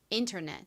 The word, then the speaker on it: internet: 인터넷 internet 인터넷 좋습니다. 앞부분 인의 강세가 있습니다.